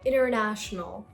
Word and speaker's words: international: So you're not going to pronounce the letter T after the letter N. So it's internet. Internet. Internet. Another word, international.